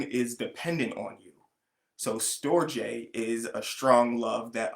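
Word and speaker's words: storge: storjay agape and ludus i pronounce those like that because i listen to the translation on them first because they are greek words um so that is where i got my pretension from so storej is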